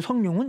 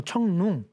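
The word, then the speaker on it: 成龍: 잘 모르겠어요 한마디로 이소룡입니다 이소룡을 지금에 와서는 중국식 발음들을 읽어주자 그래서 리시아 울음 못 알아듣겠어요 그래서 영화배우 성룡은 뭐 청룽 그럼 이제 지금까지 나와 있는 삼국지도 다 거쳐야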